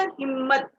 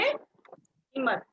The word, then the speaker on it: हिम्मत: जब हम उच्चारण करते हैं तो उसमें में आधा म हमारे मुंह से निकलता है, पता है ना? हिम्मत। अगर नहीं बोलेंगे, आधा म का उच्चारण अगर नहीं निकलेगा तो हम कैसे बोलेंगे? हिम्मत। क्या बोलेंगे? हिम्मत। लेकिन आधा म साथ में उच्चारण होता है इसलिए हिम्मत, इसलिए आठवां, क में